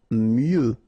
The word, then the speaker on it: mieux: Mieux. Final X not pronounced.